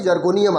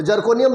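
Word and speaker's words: Zirconium: जर्कोनियम आती है। तो जर्कोनियम लोग बोल देते हैं, लेकिन स्पेलिंग जो है हम समझते हैं कि जिरकोनियम बोलते हैं, का ZI से स्टार्ट है।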